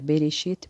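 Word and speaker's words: בראשית: nós conhecemos este Versículo este versículo em hebraico se pronuncia berechit para Eloim alif TAF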